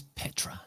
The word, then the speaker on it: Petra: What's the real great way to pronounce Petra? I didn't get it quite right, did I? It's Petra, so it kind of ends with Petra. an O instead of an A, but I think within